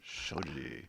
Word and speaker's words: Shoji: Shoji.